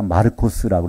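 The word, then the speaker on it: Μάρκος: 그래서 마가는 이름 자체가 마르코스라고 해서 이건 헬라식 발음입니다.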